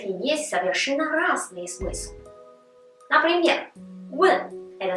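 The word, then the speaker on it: 问: Например, «вэн» – это спрашивать, «вэн» – целовать, «чу-ти» – это тема, а «чу-ти» – уже свиные ножки.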